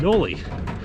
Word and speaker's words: Knolly: pronouncing no ly wrong the company is named after the guy who started off Knoll and that's why it's called Noli and even though it